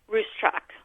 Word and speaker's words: Ruscsak: Say once again how you pronounce your last name? Ruscsak.